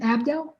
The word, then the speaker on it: Abdel: And is it Abdel? Is that how you say your name? What? Yeah, see, that's how you pronounce the name.